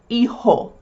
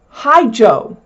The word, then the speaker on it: hijo: Hijo. You don't say hijo. It's hijo and that's because the H is silent and the J is pronounced like the H is in English.